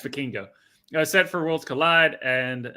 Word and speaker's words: Vikingo: You should say Vikingo. Yes, Vikingo.